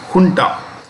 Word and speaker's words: junta: know recently the military kunta this is the spanish word and this is pronounced with an edge okay the junta captured